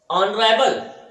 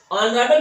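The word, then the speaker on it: honourable: ऑनरेबल, ऑनरेबल में भी यच लगा हुआ है, लेकिन प्रोनाउंसिएशन करने पर इसको महत्व नहीं दिया गया, ये साइलेंट है। यहाँ पर ऑनरेबल यच के बाद ओ की आवाज आती है और स्वर निकलता है,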